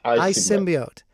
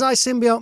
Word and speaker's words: iSymbiote: do we say the title how do we pronounce is it i symbiote yes i symbiote and what does i symbiote mean it's basically um intelligent symbian so um